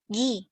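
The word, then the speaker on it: ぎ: Nah, ini kalau misalnya ditambahin dakuteng atau yang tanda petik ini, cara bacanya jadi Gi. Kalau ini Ki. Tapi kalau dikasih dakuteng jadi Gi.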